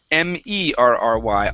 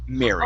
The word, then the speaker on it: Mary: We have the name Mary. We Uh-huh. have marry me, which is RRY. Ah, dang it, Yeah. RRY. Uh-huh. And then we have to be happy, which would be MERRY. All of them are pronounced exactly the same.